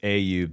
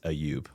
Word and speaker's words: Ayoub: I'm saying So the English pronunciation is Ayyub. The Arabic pronunciation is Ayoub.